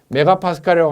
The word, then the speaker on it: 메가파스칼: 그리고 마지노선이 있는데 수압시험 압력은 법적으로 정해진 표에 의해서 하되 계산 결과가 0.2 MPA라고 읽지 말고 메가파스칼이라고 하는데, 우리가 시중에서 게이지, 압력 게이지를 보통 많이 사용하면은 킬로그램 F per 제곱센티미터라는 단위를 많이 사용하는 걸 볼 수가 있어요.